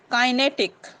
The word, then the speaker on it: kinetic: The pronunciation is kinetic.